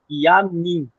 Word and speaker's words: Iyami: Outra coisa que nós temos que entender é que quando em iorubá nós lemos uma palavra assim, iamim, yami, se escreve yami, nós lemos e am.